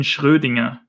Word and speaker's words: Schrödinger: How do you pronounce the name Erwin Schrödinger? You mean Erwin Schrödinger, if I'm not mistaken.